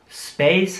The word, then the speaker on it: space: Man sieht, dass das Wort mit einem C geschrieben wird. Es wird auch wie ein C ausgesprochen, nicht wie ein K.